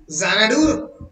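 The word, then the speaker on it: Xanadu: English alphabet তাই তো যখন জানাডু উচ্চারণ করছো কি দিয়ে উচ্চারণ করছো কি দিয়ে প্রোনাউন্স করছো কি দিয়ে মুখে প্রোনাউন্স হচ্ছে জানাডু জেড দিয়ে জানাডু লিখছো কি দিয়ে এক্স দিয়ে এর মানেটা কি একজন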